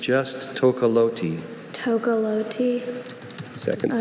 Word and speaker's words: tocalote: Are there any alternate pronunciations? Just Tokoloti.